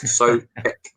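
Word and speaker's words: Tomáš Souček: Sorry, Neil did tell me how to pronounce it. Thomas Soucek, and he looks like this for anyone who hasn't seen him.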